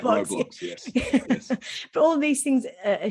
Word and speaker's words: Roblox: he pronounced it i never know how to pronounce it roblox that's right roblox but all these things are shared um and